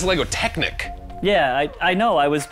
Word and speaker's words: Technic: world wow that was some seriously impressive lego technique it's pronounced lego technic yeah i know i was making a technique